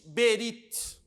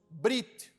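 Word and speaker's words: בְּרִית: Ninguém diz Berit, nós dizemos Brit.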